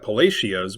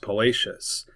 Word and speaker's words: Palacios: It looks like Palacios, but it is pronounced Palacius.